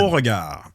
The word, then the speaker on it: Beauregard: Borgard. It's French. French Canadian.